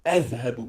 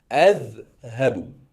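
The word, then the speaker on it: أذهب: partir, qui se dit azhabu, je vais. Azhabu, je vais. D'accord? Azhabu. Deux syllabes. Et comme tu peux le remarquer, je coince bien ma langue entre les dents en prononçant le verbe. Azhabu.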